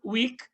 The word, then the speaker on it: Wieck: Yohan Wick. Eh, Wick é uma, na verdade se tem ali o o Ezinho, mas a pronúncia alemã termina wick mesmo.